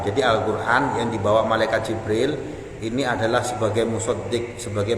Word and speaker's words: Jibril: rasul, menjadi musuhnya malaikat Jibril, bikasril jim, dengan mengkasrohkan huruf jim, jadi membacanya Jibril. Wa fatihiha bila hamzin, ada juga yang membaca huruf jimnya dibaca fathah tanpa huruf hamzah, jadi Jabril.